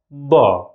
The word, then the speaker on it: ض: Letter Sa and Da. Sa, Da. Both of them, as you see, are amplified and strong.